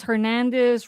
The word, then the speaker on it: Hernandez: But Well, the popular last names, Hernandez, Rodriguez, it's all with a Z. But in Spanish, it's pronounced like an S.